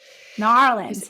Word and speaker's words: New Orleans: in a New Orleans norleans is how they say New Orleans say say it like